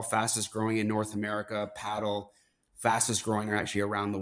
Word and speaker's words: Padel: pickle ball courts and I know it's spelled, if you sound it out, it sounds like padell, but where it it is paddle, p a d e l, but it's paddle.